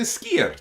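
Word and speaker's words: Skoda: try and pronounce it they say skier don't they you go up there and most of them say skier like that it's not not as high pitched on the end there I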